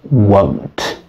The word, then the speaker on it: won't: contract together and say won't so be careful about the pronunciation here because it sounds like want so want and won't so the sound is like in the alphabet l m n o P so whoa so I